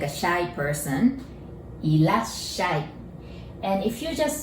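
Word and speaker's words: いらっしゃい: Irashai. And if you just say irashai, it is a casual way of saying welcome. And if you add mase, it becomes politer. Irashai or Irasshaimase.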